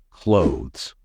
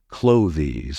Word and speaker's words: clothes: was easy for you the correct pronunciation is clothes never pronounce it as clothies or cloes because that's incorrect another way to say